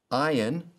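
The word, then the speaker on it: ayin: the s in sin iron like aleph is silent and so we'll pronounce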